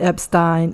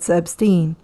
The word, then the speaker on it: Epstein: time telling the boys how to pronounce his last name it is not Epstein it Epstein the head Masters gave